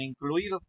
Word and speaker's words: incluido: Vamos a tener una palabra grave porque la sílaba clui es la que va a sonar más fuerte, que es la penúltima, ¿no?